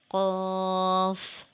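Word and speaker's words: ق: Qaf is a heavy sound letter. It is pronounced when we touch the root of the tongue on the soft palate. You can read after me. Qaf, Qaf.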